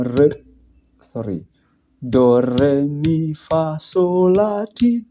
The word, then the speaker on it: re: Then after do comes re, as in rays of the sun. So the tone should be like rays.